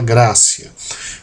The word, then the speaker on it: gratia: Se escreve grátia, como aí está, mas se lê com C. O T som ah de C, por isso sola grácia.